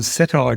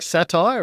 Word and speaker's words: Cettire: No, but apparently the CEO makes it rhyme with satire according to uh Rear Window and the feed.